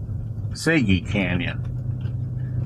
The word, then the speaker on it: Sego Canyon: local that we met the guy from Blanding pronounced SEO Canyon which is SEO is sey sey Canyon so anyway we're going up here to look